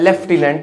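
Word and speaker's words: lieutenant: बात तो ये है कि लेफ्टिनेंट में एफ आता है लेफ्टिनेंट लेकिन इसकी स्पेलिंग में एफ कहीं होता ही नहीं है पूछा जाए बच्चों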